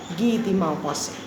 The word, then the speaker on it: Guy de Maupassant: will pronounce it as Guy de Maupassant. You will write the spelling as it is, but the pronunciation will be different. That will be in French.